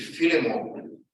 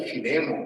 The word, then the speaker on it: Filemão: Vamos ler aqui o livro de Filemão, ou Filemon, conforme, dependendo da região do país, se gosta da pronúncia, né?